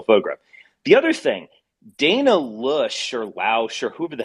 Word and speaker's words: Loesch: The other thing, Dana Lush or Lausch or whoever the hell that woman is, Lash. that's like honest Lash. You don't pronounce. I'm not going to pronounce Lash.